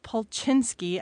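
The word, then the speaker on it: Polchinski: Okay, so a little over a year ago, a string theorist named Joseph Pulchinsky, and I'm sure I just completely mispronounced that name.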